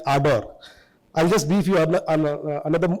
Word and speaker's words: Ardor: we pronounce it as ador it's a r d o r where the first r is silent. So so it's like ador I'll just brief you